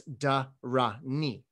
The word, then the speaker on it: dhāraṇī: the third character knee so if you know the medieval pronunciation of these three characters it's da ra ni it's only in modern mandarin that it doesn't sound like durrani anymore my point is is